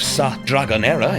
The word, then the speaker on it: Sa Dragonera: lizards of dragon era the island of saat dragonera if you want to say it like a local sits a short ferry